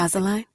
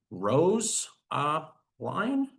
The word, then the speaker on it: Rosaline: I'm going to click annotate, and I can write should be Rose line.